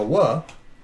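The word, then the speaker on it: וו: So we have 5 really small communities that preserve the tradition of pronouncing it as a wa, but the rest pronounce it as a vav.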